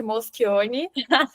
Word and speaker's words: Moschioni: Você pronunciou corretamente Moschioni.